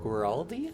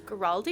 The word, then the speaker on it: Guaraldi: And if you're not familiar, it's done by the Vince, I think it's pronounced Guaraldi? Guaraldi, I thought?